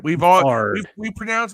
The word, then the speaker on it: Beathard: Is it Beathard or Bethard? Bethard. We have mispronounced his last name for 40 years. Yeah. It's Bethard.